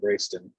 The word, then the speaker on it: Greyston: grayston and i just want to correct the pronunciation grayston was founded back in 1982 to address some